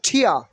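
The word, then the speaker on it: tear: লজ্জা same same ওকে টিয়া টিয়া নট টিয়া নট টিয়ার T will be pronunciation is ঠ এন্ড R will be silent hair টিয়া টিয়া টিয়া টিয়া মানে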